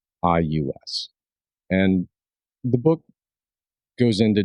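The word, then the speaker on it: Regius: a document called the Regious Manuscript. And if to the extent that I might have butchered that, it is regus.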